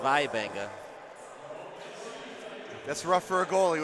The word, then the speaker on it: Waibenga: That's Nolan well, it's written Waibenga, but I have a feeling it's pronounced Vaibenga.